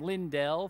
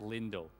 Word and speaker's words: Lindell: I've been pronouncing her name Lindell for too long. It's pronounced Lindell.